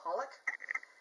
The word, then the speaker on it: xxxHolic: It's like 3 X's, but you don't pronounce them, but it's called Holic.